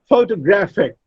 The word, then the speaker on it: photographic: Photographic. Now, it is not photographic, it's photographic. Gra, the third syllable, receives primary stress, and the first syllable, pho, receives the secondary stress. It's photographic.